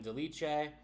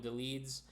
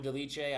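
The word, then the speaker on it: Dolidze: years old in Roman de leche I say Roman some call them Roman deletes Roman de leche I pronounce my Fighters properly is coming off a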